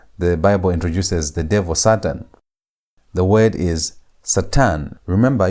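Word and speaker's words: שטן: S a t a n. How do you pronounce that? Try to pronounce it. It's Satan. Satan.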